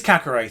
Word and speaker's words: Kakare: finally have confirmation on how to say his name properly. It is Kakare, apparently. It is Kakare.